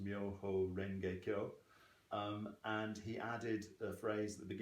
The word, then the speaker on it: Myoho Renge Kyo: So Nichiren took the title of the Lotus Sutra as it was in Japan, which was then pronounced Myoho Renge Kyo, and he added a